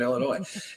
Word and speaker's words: Illinois: A man named Russell Burroughs claimed he had stumbled upon a hidden cave near the Embarrass River of Southern Illinois. Inside, it's got to be pronounced differently.